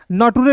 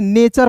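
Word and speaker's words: nature: नटुरे नहीं पढ़ेंगे। देखिए यहां पे यहां देखिए नेचर पढ़ते हैं।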